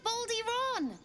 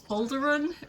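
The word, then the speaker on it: Balduran: saved us just like baly Ron baly Ron he means boulderon Boulder boulderon B boulderon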